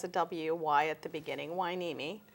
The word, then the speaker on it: Hueneme: little difficult word to pronounce but it's um pronounced like it has a Wy at the beginning why neimi it's an Indian name yes a Chumash name